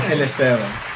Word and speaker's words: Angel Esteban: I'm sorry, say it again one more time. Angel Esteban. Angel Esteban. Angel Esteban. Tell me again. So, Angel. Angel? And then Esteban right now. Esteban. Angel Esteban. Yep. Am I saying it right? That's close enough.